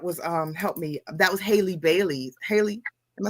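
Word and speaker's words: Halle Bailey: That was Haley Bailey. Haley, am I saying it right? Haley Bailey?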